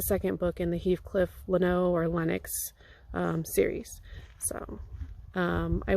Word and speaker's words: Lennox: After I finished that, I started the Heathcliff Leno or Lennox mystery novels. I would have normally pronounced it Heathcliff Leno, but the narrator is reading it, and every time they say his name, it's Lennox. So I don't know if